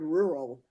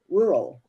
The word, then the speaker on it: rural: I say the word rural the second R doesn't get pronounced that much it's more like just rural rural yeah right yeah